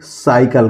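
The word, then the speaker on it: cycle: इसको क्या पढ़ेंगे दोस्तों सी के बाद वाई आया हुआ है तो इसको हम पढ़ेंगे साइकल क्या पढ़ेंगे साइकल इसी तरह सी एटी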